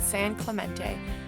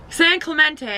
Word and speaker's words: San Clemente: San Clementine we're in San Clemente Clemente oh Clemente San Clemente I think that's how you say it and we're packing up